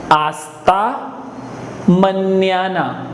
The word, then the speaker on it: hasta mañana: In Spanish, H is silent, hence it starts from A. Hasta mañana. Hasta mañana.